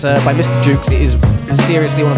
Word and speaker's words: Mr. Jukes: This is it's called Mr. Jukes, spelt with a J as in jukebox, but it's Thingy Stedman from the Bombay Bicycle Club, his solo project.